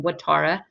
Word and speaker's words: Ouattara: name is tara you pronounce my name like a w watara and i is actually